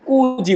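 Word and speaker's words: 九時: 9 আছে কুজি বলবো।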